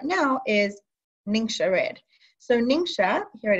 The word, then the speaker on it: Ningxia: sure it is and we explained here it's pronounced lingsha it's a powerful superfood drink that contains whole